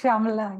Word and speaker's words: Shamala: a second so sh Shala is that correct yeah you can pronounce it like that it's shamala yeah okay I don't think